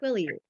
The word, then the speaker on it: Quileute: Quileute. Oh, that's not exactly how they go. If you pronounce it, that's not how you say it.